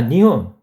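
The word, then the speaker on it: 二本: 토리쿠시 하면은 닭꼬치가 되겠어요 자 니혼 니혼이니까 니혼이라고 읽어요 니혼 이혼 이혼이라고 있습니다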